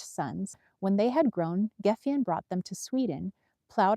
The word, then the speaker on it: Gefjon: How do I pronounce this? Geffion? Geffion? It's Gefjion.